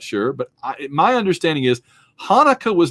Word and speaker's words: Hanukkah: name from saturday night live says it's not pronounced chanukah the sea is silent in hanukkah there's a lot of different ways to pronounce it but it's hanukkah and this is the eight day festival of